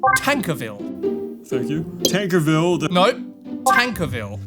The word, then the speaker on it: Tankerville: Do you know how to pronounce every— Yes, it's pronounced Tankerville.